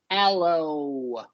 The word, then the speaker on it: aloe: Alo Bella okay yeah you typically don't pronounce the e in these at the end of these o words uh right that's right